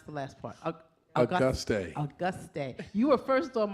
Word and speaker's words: Auguste: Councilwoman at Large, Patricia Perkins, pronounce the last part. Auguste.